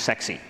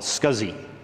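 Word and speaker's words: SCSI: and they was said it was gonna be pronounced sexy oops a lot of people didn't like the interface and so they countered with nah it makes more sense to call it scuzzy which has kind of this this image of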